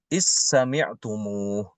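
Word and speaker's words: إذ سمعتموه: Imam Hisham membaca dal itu ke sin, diidghamkan ke sil, huruf sin. Jadi dibacanya is sami'tumuh.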